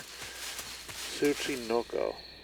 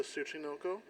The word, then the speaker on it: Tsuchinoko: Tsuchinoko. They pronounce it in the game, so we'll get to that point.